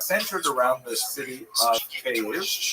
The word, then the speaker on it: Kyiv: That's the Ukrainian pronunciation, by the way. That's favored today because, of course, Ukrainian is the dominant language in the country, but it used to be called in English Kiev, which is closer to Russian pronunciation, because Russia dominated much